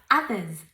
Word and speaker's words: others: It feels great to help others. Others. Esta O se pronuncia como una A.